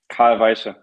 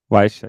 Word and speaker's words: Carl Weische: What's the best name to pronounce her name? Carl Weische. Weische.